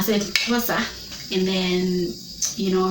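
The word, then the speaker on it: Xhosa: Kaa they Saida yeah that's how they pronounce it's not COA yeah SOA and then you know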